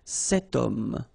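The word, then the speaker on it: cet homme: this Ash letter remember Ash is not pronounced okay so you've got the sound of O at the beginning of this word okay setum so that's the reason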